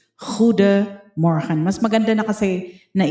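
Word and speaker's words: goedemorgen: Ang pronunciation niya ay parang ho de mor parang ganon pero sa pero officially it's huda moran mas maganda na kasi na i-train niyo yung yung pronunciation niyo sa simula pa lang yung hindi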